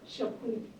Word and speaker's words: Chapuis: How do you pronounce this? Chapuis. Chapuis? Chapuis. Like it's French? Swiss French, yes.